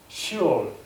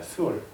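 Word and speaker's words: שאול: 본문에서 무덤이라고 번역된 히브리어는요, 히브리어 발음으로 시올, 스올입니다. 스올. 스올은 성경에서 무덤, 구덩이, 지옥으로 번역이 되었습니다.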